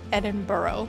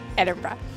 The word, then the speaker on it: Edinburgh: We've noticed that many North Americans pronounce Edinburgh like Edinburgh, but that's not right. And it's not Edinburgh either. Repeat after me, Edinburgh.